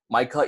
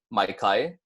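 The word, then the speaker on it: Maikaʻi: congratulating you as well my cut it does have a no kina in it too so there is a break between the the kha and the e instead of saying my Takei since that Oh kina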